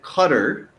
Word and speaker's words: Qatar: school of thought that cutter is a better pronunciation approximation for english speakers and i have been